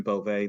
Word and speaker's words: Beauvais: For the record, my name is Beauvais. That's. Excuse me. Beauvais spelled B as in boy, E-A-U, V as in victory, A-I-S as in Sam.